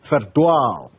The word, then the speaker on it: Verdwaal: Live for us in Verdwaal. That's how you pronounce the name of that village in the northwest.